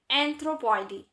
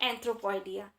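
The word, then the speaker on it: Anthropoidea: लेम्यूराइडी, टार्सियोइडी एंड एंथ्रोपॉइडी। ठीक है, कुछ लोग इसको प्रोनाउंसिएट करते हैं लेम्यूराइडिया, टार्सियोइडिया एंड एंथ्रोपॉइडिया।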